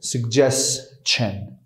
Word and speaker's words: suggestion: درسته، همون نکته‌ای که توی question وجود داشت اینجا هم وجود داره، suggestion. ولی اینجا یک نکته دیگه هم داریم، هم صدای ج و هم صدای گ، suggestion.